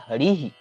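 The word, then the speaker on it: हरिः: तो विसर्ग का जो ह उच्चारण है उसके साथ इ वर्ण जुड़ जाता है।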